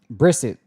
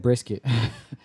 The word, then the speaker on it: Brissett: Let me see. Brissett. I said brisket.